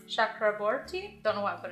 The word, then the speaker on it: Chakraborty: city of brass by a gonna venture it's pronounced Chakraborty don't know why I put an accent on